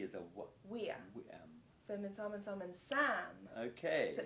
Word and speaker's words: viam: Weam. The Romans Which always starts pronounce a V as a what? Weam.